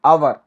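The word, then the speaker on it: hour: लेकिन कुछ शब्दों के अंदर ये मूक रह जाता है, मतलब साइलेंट रह जाता है। जैसे कि आवर, ऑनेस्ट, इस तरह से।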